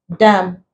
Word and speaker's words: damn: column condemn damn awesome in this words the end is not pronounced the N is silent so when letter A